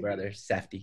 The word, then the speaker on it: Safdie: This might be a previous impression that I got from the is it Safdie brothers? I can never pronounce their last name. Safdie, yeah.